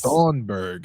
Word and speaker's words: Thunberg: Is her name Greta Feinberg? What is her last name? The young Greta Thunberg. It's Thunberg. Can't be pronounced by us stupid Americans.